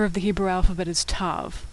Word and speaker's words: tav: The last letter of the Hebrew alphabet is Tav, which makes a T sound, as in tango. Now some older Jews and Orthodox Jews will pronounce this letter as an S sound if it doesn't have a dot inside, but most people pronounce it as T, with or without the dot.